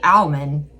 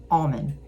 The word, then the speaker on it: almond: So it's interesting that they say almond and not almond.